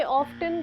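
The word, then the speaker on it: often: so many options I ऑफ्टन gate confused to it's okay we ऑल डू ऑफ्टन times O एफ टी ई एन इज ऑफें टी is silent not ऑफ्टन ऑफें फॉर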